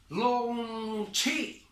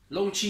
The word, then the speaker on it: Longqi: It's called Longqi. Longqi human hair. And for the pronunciation of Qi, you can think about it. Chinese Kung Fu, Tai Chi.